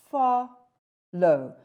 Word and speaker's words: follow: We say follow. We stress it on the first syllable, and the second syllable is unstressed.